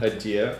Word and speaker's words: adieu: Adieu.